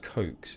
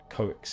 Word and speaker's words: coax: attempt to cut coax the word coax is spelled weirdly and I often read